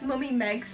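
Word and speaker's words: Mummy Meagz: can get it, is, I think it's Mummy Meg's, but it's spelled like Mummy Meegs.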